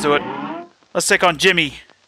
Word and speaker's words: Djimmi: Let's take on Djimmi. I'm assuming the D is silent.